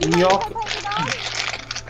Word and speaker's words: gnocchi: You say it like gnocchi.